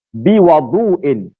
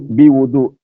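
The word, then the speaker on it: بِوَضُوء: Aku datang kepada Nabi sallallahu alaihi wasallam biwudu'in. Kalau kitab terjemahan tu ada salah dari sudut baris. Dia tulis wudu, biwudu. Bacanya biwudu. Baris atas. Biwudu.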